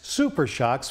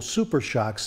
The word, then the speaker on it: SuperShox: Calmax SuperShox from DJM Suspension.